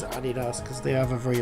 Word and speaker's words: Adidas: Although in America, I believe you pronounce it Adidas. Yeah. See, where I'm from, we all we always pronounce it Adidas. Um, but Adidas probably does sound better. Um, but with actually with it being German, it probably it probably more likely is Adidas cuz they have a very abrupt Adidas.